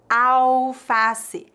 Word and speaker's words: alface: preparo de saladas novamente atenção a pronúncia alface alface não pronunciamos a letra L vamos ver exemplos em